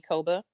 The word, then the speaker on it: Ekeoba: on instagram at Koba ek EOB a definitely it's not spelled the way no it doesn't always have to tell people that you know ii e is silent when they see it yeah I'm just gonna